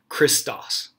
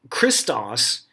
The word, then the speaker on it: Christos: i s t oos this Greek word is pronounced christas and Christos is a Greek term that simply means the